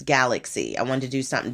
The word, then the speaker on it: Galaksy: Yes, and of course, someone would love to pronounce it and say Galaxy, but it's not. It's Galaxy.